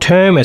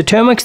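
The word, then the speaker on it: Termux: Okay, app number three in a list is called Teras spelled like T E R M UX. So Termas, this is a smaller version of Linux operating system running on your device.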